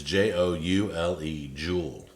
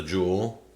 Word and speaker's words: Joule: there it is it's j-o-u-l-e that's how they spell it not like a diamond or gold or silver or whatever uh let's see here start the jewel whoop cancel start the